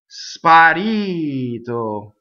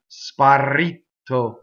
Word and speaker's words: sparito: Sparito. Okay, flipped R, single T. Right? You can hear a lot of times this wrong. Sparito. That's how Americans tend to do it. Right? Sparito.